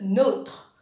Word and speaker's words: nôtre: Alors, quand on a un accent circonflexe, le O, oui, ce prononciation sans E. Je vais donner un exemple. Nous disons notre. Exemple, notre chien s'appelle Milou, notre. Mais quand vous pouvez accent circonflexe, le O, il vient le nôtre ou alors le vôtre.